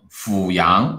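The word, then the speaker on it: 阜阳: 好，明谢一下啊，纠错，读音阜阳啊，读阜字啊。OK，谢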